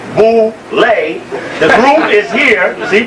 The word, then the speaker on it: Boule: Known as Boule, pronounced Boule.